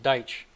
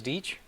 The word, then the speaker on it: Deitch: them earlier skip though i always pronounced it deich but uh i guess it's deetch gene diech was a